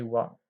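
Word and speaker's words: は: Ici, on peut voir que la particule wa, elle s'écrit avec le hiragana ha, mais elle va se prononcer wa.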